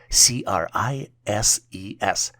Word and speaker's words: crises: The plural version for crisis is spelled as CRISES and is pronounced as crises.